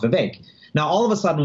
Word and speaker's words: Vivek: just would know instinctively that the name is pronounced Vivek.